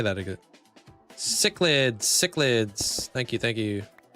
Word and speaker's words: cichlids: Chillid? Chillid? Yeah, how do you say that again? Cichlids, cichlids.